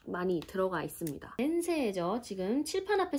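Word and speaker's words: せんせい: 센세 선생님. 자, 여기도 장음이죠. 센세 이런 식으로.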